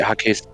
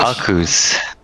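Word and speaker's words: Ackus: There's no H. Akus. Ak. Oh, that's right. A-C-K. Akus. Ak-us. Akus. There you go.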